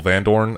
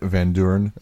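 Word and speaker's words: Vandoorne: a pretty good job of like humanizing Stoffel vandorn a bit more because like so i don't you mean van Duren sorry stuff levin burn yeah his name is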